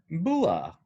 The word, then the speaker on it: Bula: oh yeah, you're pronouncing bula incorrectly if you How say do it you say it? without a smile. Oh, So you have to say it with a smile to say it right.